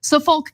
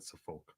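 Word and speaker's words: Suffolk: you know two people from Yonkers older individuals saulk County Police say 44 year-old Steven Brown It's actually pronounced suffk not saulk but yeah 44y old Steven Brown 38y old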